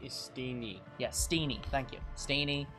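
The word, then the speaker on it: Steenee: Sinisty? It's Steen. No, S-T-E-E. Steeny.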